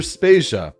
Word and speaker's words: Spacia: is Jodie Vader and I'm Spacia we're brought to you by anonymous dinosaur and rhymes with Asia it's time to appreciate